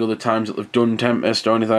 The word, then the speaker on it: Tempest: And this is essentially a remake of Tempest, and it's I don't know why I've just pronounced it Tempest, to be fair. It's Tempest. You just say it as one word.